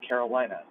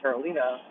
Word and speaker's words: Carolina: I said her name wrong because when you look at the way it's spelled, Americans say Carolina, but it's actually Carolina.